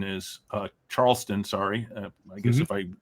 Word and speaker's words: Charleston: And I obviously know who Oscar Charlton is. Uh Charleston, sorry. I guess if I knew him that well, I would pronounce his name correctly.